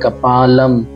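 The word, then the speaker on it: कपालं: अब ये नीचे देखिए कपालम, ऊपर बिंदी इसलिए हम बोल रहे हैं कपालम।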